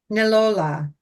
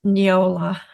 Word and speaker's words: Neola: So our first pet is going to be Nilola. And I pronounced that correctly, right? Right, Carol? It's Neola. Neola. Neola. Neola. I was pretty close.